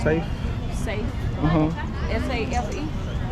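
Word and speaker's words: Saif: Safe. Safe. Uh-huh. S-A-F-E? S-A-I-F. But I pronounce it like safe.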